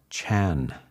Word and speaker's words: Chan: When I went to China, the Chinese language is different and they they use this word, they would pronounce this word Janna as Chan.